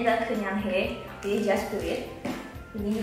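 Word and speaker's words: 그냥해: Dia ada paper wrap-nya dengan tulisan Nike Just Do It dalam bahasa Korea yang bacanya adalah Kenyanghae, jadi Just Do It.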